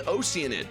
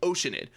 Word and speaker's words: Oceanid: that I'm saying that oceanid the oceanid here we have the oceanid you don't add two letters and get two full syllables out of it I don't know why it's pronounced that way anyways it's made of